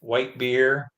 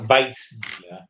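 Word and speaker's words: Weissbier: Swiss veal and a good white beer. I haven't even had dessert yet. Yes, but it gets mispronounced white beer because Weiss beer.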